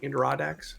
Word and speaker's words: Adirondack: Adirondacks?